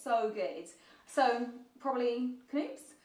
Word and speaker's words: Knoops: Although I always used to call it Noops, and then you know sometimes brands actually write how it's supposed to be pronounced. It was Knoop's, so I was like, okay, I am wrong.